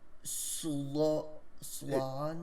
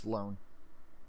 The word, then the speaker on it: Sloan: twin daughters Olivia and Swan it's it's pronounced Sloan Sloan they're both 18.